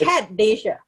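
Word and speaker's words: Acadasia: it's Akadasia. Acad Asia. It's academics. Acad Academics Asia.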